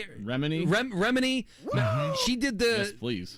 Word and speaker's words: Remini: Remini.